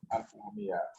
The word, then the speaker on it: Alchornea: L'orthographe, c'est Alchornea. On prononce Alchornea.